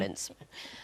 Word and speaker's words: Ince: Turner, has put the helpful message to me that you pronounce that Darius Vassell, and he's also put Paul Ince rhymes with mince.